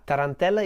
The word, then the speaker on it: Tarantella: turn teller Tarantella you can repeat after me Tarantella is the name of an Italian dance and